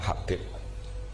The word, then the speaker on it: Habib: Ada yang nulis Abi Abdurrahman Habib As-Sulami. Yang benar itu bacanya Habib.